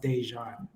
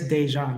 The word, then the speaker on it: Déjan: pronounce my name so my middle name is pronounced dejan oh my apologies no no it's okay heiress dejan but i like that's